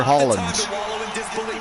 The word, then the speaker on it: Haaland: Man City's Erling, is it Haaland or Holland? Haaland.